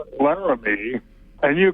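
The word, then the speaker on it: Laramie: wants to talk about how to pronounce ly which I know we're not doing it correctly when we say lar me that I do know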